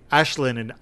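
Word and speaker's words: Aisling: I'm almost tempted to pronounce her name Ash, because that's how you say Ashlyn or spell Ashlyn in Irish. It's A-I-S-L-I-N-G is Ashlyn.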